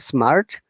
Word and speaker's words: smart: Smart, Mm, not smart. Smart, R is silent.